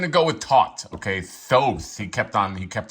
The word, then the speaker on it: Thoth: Thoth, he kept on he kept on mentioning it.